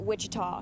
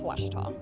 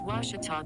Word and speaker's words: Ouachita: university back in texas everybody pronounces it wichita but really it's ouachita washington washington how would you pronounce it it's washita baptist university get it right it's